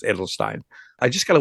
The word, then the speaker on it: Adelstein: no idea that it was Ed it is Edelstein it is Edelstein I'm not German so forgive my pronunciation of a little off but it's Edelstein I just got a letter from my sister